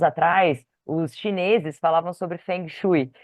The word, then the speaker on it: Feng Shui: os chineses Falavam sobre Feng Shui que na verdade a pronúncia correta gente é fong suu Ó que chique fu